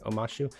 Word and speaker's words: Omashu: Omashu, I think I'm saying it right. Omashu, yes.